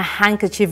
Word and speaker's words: handkerchief: good has bought a handkerchief remember the D is silent very good where have